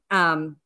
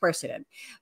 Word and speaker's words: quercetin: So, quercetin, or depending on what side of the pond you come from, it's pronounced quercetin.